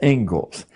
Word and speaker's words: Inglis: The Ingalls lecture. Looks like Inglis, but it's pronounced Ingalls.